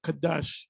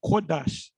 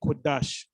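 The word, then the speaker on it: קודש: name of the Lord, you say Rakah Kadash. It's Rakah Kodash. Ka is different from Kwa in the Hebrew. So you got to pronounce the word, but that's all right. We know what you're talking about, but that's how you actually say the word.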